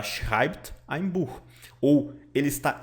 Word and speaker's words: schreibt: As letras SCH têm som de CH, as letrinhas E e têm som de AI.